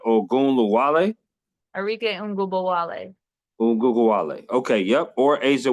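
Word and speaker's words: Arike Ogunbowale: Would you rather have Enrique Ongumlake, if I said her name right, Ongumlake, or would you rather have Aja Wilson? You said Arike Ngubowale.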